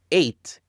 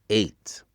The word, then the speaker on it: ate: Or eat, ate, eaten. Et une chose de dire le 8, on prononce comme le numéro 7, 8. C'est pas at, but 8.